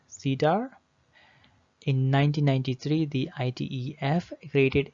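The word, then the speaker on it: CIDR: enter domain routing okay cedar pronounced cedar in 1993 the itef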